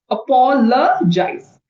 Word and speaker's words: apologize: So, it's not Apollo, it's Apollo. Apologize.